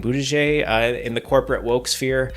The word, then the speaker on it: Buttigieg: Buttigieg, in the corporate woke sphere.